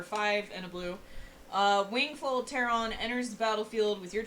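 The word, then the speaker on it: Wingfold Pteron: uh okay we have wingful tehran because i'm not pronouncing the p uh which is like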